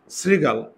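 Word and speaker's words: শৃগাল: শ্রীগাল, তো তালব বসার সঙ্গে যদি রিকার থাকে তাহলে এই তালব বসা কি হয়ে যায়? দন্তস্ব হয়ে যায়।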